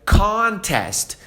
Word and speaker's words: contest: Então vamos para a primeira forma de falar essa palavra que é contest. Dando ênfase aqui no começo.